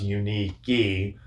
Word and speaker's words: Unique: She said it was Unique, but you know, Unique, whatever you want to call it.